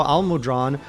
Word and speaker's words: Almudron: i just realized now al-mudran rhymes with long he's i have a